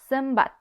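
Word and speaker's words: zenbat: NB makes actually an MB sound, like sembat, sembat.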